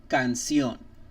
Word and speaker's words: canción: Whenever you start to see the word sion, or like the syllable sion, S-I-O-N, I-O-N, C-I-O-N, they're most definitely going to be, or guaranteed, accent mark on the O at that very last word.